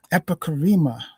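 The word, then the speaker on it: epicheirema: Epicarema. That's the pronunciation of that.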